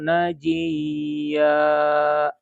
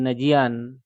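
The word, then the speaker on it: نجيا: Sehingga dibacanya dari sini contohnya wa qarrabnahu najiya. Tidak lagi najian.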